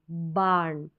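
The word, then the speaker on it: barn: मैंने पहले भी बताया ए के बाद में जो आर आ रहा है कई बार यह बिल्कुल साइलेंट रहता है इसका उच्चारण भी नहीं होता है तो भी इसको गलत ना समझे तो भी यह बिल्कुल सही है उरण तो बान पढ़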